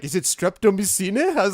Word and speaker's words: streptomycin: pronouncing strepto whatever wrong? Was that No, it's streptomycin just- is still actively Yeah.